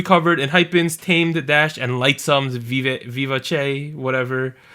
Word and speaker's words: Vivace: I can't pronounce that song. Vivace. Vivace. Vivace. Okay, like I thought it was going to be like Vivace or something, but then I listened to the song and they clearly say Vivace.